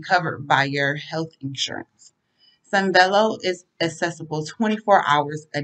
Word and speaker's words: Sanvello: Just search the word Sunvello, which is spelled Sanvello. If you are a Lakeland student, premium access is free.